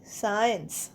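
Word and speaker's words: science: এস আই এন সি সাইন্স সাইন্সেও সি উচ্চারণ হচ্ছে না সাইন্স সাইন্স মানে বিজ্ঞান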